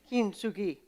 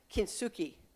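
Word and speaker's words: kintsugi: Kinsugi. Now, my pronunciation guide says it's okay for people who speak English to say kinsuki, but he's he speaks Japanese fluently, so I made him say it.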